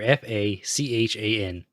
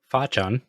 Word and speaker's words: Fachan: There's a so it's F-A-H or F-A-C-H-A-N, which I've seen pronounced as Fachan or Fachan.